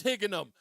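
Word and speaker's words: Higganum: Why can't I pronounce it? Higginham. It is Higginham.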